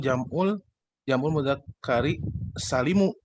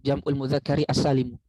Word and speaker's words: jam'ul mudzakkari as-salim: Tapi saya pernah dengar bacanya jam'ul mudzakkari salimu. Jadi nggak ikut mudzakkarinya gitu. Iya, yang betul adalah yang itu, jam'ul mudzakkari as-salim. Karena as-salim itu sifat dari jam'u, bukan dari al-mudzakkar.